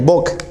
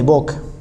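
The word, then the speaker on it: Buck: se llama facia de boc. ¿Listo? Facia de BOC. Se escribe facia de book. Listo. Pero es la facia de BOC.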